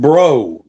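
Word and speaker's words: Breau: Ahmad Bro and it's spelled B R E A U as in like Louisiana. I mean X as in Louisiana. I called him bruh.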